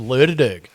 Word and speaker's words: Lerderderg: I dragged my backside up to Lerderderg. To Lerderderg? I did. I spent 2 nights up at Lerderderg. I'm glad you've pronounced that and haven't asked me to read that out loud.